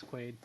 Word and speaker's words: Quayd: sounded out correctly yeah it's quite like dennis quaid great thanks quit um